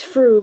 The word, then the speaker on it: Frue: It's Fru, but it's okay.